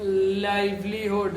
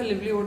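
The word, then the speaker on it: livelihood: Become is means of लाइवलीहुड या लिवलीहुड, जो भी कहते हो आप, ठीक है। करेक्ट प्रोनाउंसिएशन इसका लिवलीहुड होता है।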